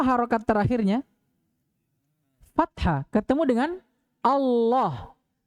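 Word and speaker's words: الله: fathah ketemu dengan Allah Bagaimana cara baca Allahnya tebal atau tipis tebalah gak boleh lagi ada orang bacaah sama orang kalau takbir dalam salat Allahu akbar gak ada Allah yang ada itu Allah paham ini nah ini yang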